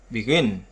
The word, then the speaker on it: begin: Trọng âm thường rơi vào âm tiết thứ hai đối với phần động từ hai âm tiết.